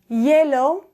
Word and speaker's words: hielo: So the letter H is an H, but we never pronounce it. So, for example, hola or hielo.